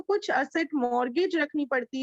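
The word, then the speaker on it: mortgage: तो इसको कहते हैं मॉर्गेज. टी साइलेंट रहता है.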